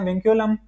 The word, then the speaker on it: vinculum: Basically बार को हम कहते हैं विंक्यूलम। अगर वो किसी ने नहीं देखा तो ये लिख लेना।